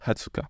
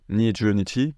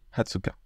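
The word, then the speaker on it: 二十日: japonaise et exception également pour le 20 on va dire hatsuka on va pas dire ni jichi même si on vous comprendra si jamais vous dites niichi mais le mot adapté c'est hatsuka hatsuka pour dire le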